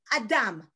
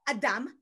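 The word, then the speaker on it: אדם: that guy okay madame built of two syllables ah and dumb ah encompasses the spirit within the human being it's where our soul resides that's why it doesn't have a heart sound because just like spirit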